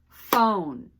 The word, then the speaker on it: phone: Phone. How many syllables? Phone. 1. It has 1 vowel sound, so 1 syllable. The E is silent.